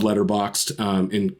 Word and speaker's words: Letterboxd: So I love Letterboxd. In case we're both saying it over and over again, but how you spell it is like letterbox, like where you buy